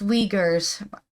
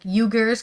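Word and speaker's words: Uyghurs: we weers in China possible it's called It's pronounced weers I just discovered I've been saying yeah like yugar because it's with a u but it's actually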